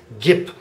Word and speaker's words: gibt: a p sound Gip well it turns out that a b at the end of a syllable actually sounds a lot like a p so that's what we have Gip by the way if